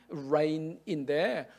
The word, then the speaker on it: reign: 근데 똑같은 발음인데 하나님의 통치도 Rain이에요. 발음이 똑같은데 스펠링이 달라요. R-E-I-G-N Rain인데 똑같은 Rain인데 하나는 B고 하나는 통치예요. 그러니까 이번 주에 여러분 카톡에 표제어로 보통 사람들은 모르거든.